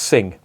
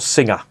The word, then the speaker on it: Singha: word about the name that is pronounced sing not singer as everyone over here pronounce it apparently it's pronounced sing